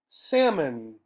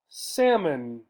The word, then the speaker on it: salmon: gossamer gossamer carpet carpet salmon salmon notice here in English we do not say this L right so sounds like the word without the L right salmon salmon we